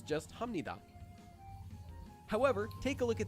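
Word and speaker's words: 합니다: example take this word we previously learned that this is pronounced hamnida because there's the consonant b that's followed by a neon so in this case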